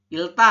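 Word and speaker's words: 읽다: melipat seperti itu ini ilta ya ilta ilta ini berarti eh dibacasanya hanya Il ya ditambah dengan apa dengan sem semnika penulisannya tetap ya empat huruf ya Hun kalau dibacanya Il bukan ilek ya Jadi dibacanya ini adalah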